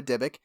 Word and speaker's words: dybbuk: Dybbuk is spelled D-Y-B-B-U-K. Dybbuk. I was Dybbuk. I had no idea what I was saying until I had to watch a video where I heard him say Dybbuk. And I was like... DIH/BIC, like the pen.